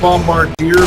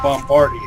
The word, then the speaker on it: Bombardier: Bombardier is the correct way to say that, and the correct way to spell it. It looks like Bombardier, but it's a French one, which is why it's actually pronounced Bombardier.